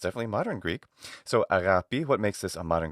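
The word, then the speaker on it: ἀγάπη: So agapi, what makes this a modern Greek pronunciation? The gamma becomes a fricative in later forms of Greek, later than this period.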